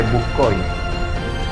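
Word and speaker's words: Bucquoy: Se enfrentaron el ejército protestante al mando de Ernesto Mansfeld contra el Sacro Imperio Romano Germánico, comandados por Bucón. ¿Ok? Usted le puede pronunciar simplemente Bucói.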